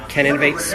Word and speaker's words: CANInnovate: name of her podcast can innovates more like get it we can innovates more and it's pronounced can innovate she says not Kenan can innovate a god I just